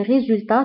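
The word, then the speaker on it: résultats: فهنا ايضا لي ريزولتا تكتب بالت في اخر الكلمه ولكنها لا تنطق. وبالنسبه لهاد اس فهي اس نتاع البلوريال او نتاع الجمع. اما بالنسبه لكلمه ريزولتا فتكتب بالت ولا تنطق.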